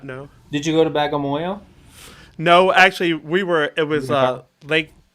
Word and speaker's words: Bagamoyo: Did you go to Bagamoyo?